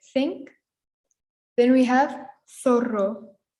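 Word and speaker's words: zorro: think then we have thoro which is similar to thought okay and that's our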